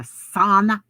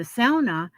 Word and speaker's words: sauna: had a um sauna now you may hear people call them a sauna that's the wrong pronunciation they're a sound sound like like a sow like pig sound in any way which